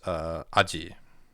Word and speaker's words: 味: Um and then on its own it's pronounced aji.